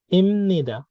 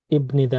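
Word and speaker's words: 입니다: বিয়োগের উচ্চারণ মিয়মের মতো উচ্চারণ হবে। ম, ইমনিদা, ইবনিদা না, ইম নি দা, ইমনিদা।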